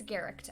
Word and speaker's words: Garecht: Michaela Garecht, I think the last name is pronounced Garecht. Okay, I've heard, it's Garecht.